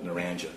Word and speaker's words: Naranja: It's pronounced Naranja? Naranja, yes, sir.